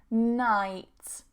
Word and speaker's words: night: Night, night, night, okay?